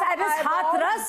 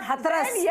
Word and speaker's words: Hathras: So, it's Hathras not Hathras. So, learn to pronounce the cities of UP well.